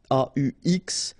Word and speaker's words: aux: les will become au, aux, but then remember that phonetically it's o.